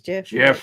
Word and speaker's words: GIF: The creator says GIF. GIF makes the most sense grammatically. GIF. Computer computer generated image. The G is a soft G.